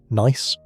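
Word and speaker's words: gneiss: Nice, pronounced nice, is a high-grade metamorphic rock with alternating bands of light and dark minerals giving it a striped appearance.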